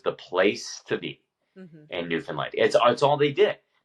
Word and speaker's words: Newfoundland: Because okay, that's how it's spelled. What is it? Newfoundland? Newfoundland.